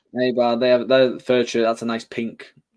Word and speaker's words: Eibar: How do you pronounce that? Eibar. Eibar.